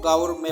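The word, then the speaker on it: gourmet: यहाँ पे T silent है, इसको गौरमे पढ़ा जाता है।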